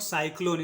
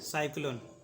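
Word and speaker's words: cyclone: क्या है एल है तो सी का यहां पे क्या उच्चारण होगा क सी का उच्चारण होगा क एल है साथ में तो आधा क का उच्चारण करेंगे एल का पूरा उच्चारण करेंगे ओ का उच्चारण होगा ओ एन का उच्चारण होगा ना औरी का कोई उच्चारण नहीं होगा ठीक है इसको पढ़ेंगे हम लोग साइक्लोन इसको पढ़ेंगे साइक्लोन जब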